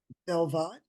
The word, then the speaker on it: בלבד: So that's a vet at the beginning of an a vet in the middle. Belvad.